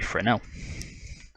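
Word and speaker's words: Fresnel: I'm going to quickly grab a frel which is spelled f e s n l so if you're searching for that make sure to put that s in there it's silent don't you know now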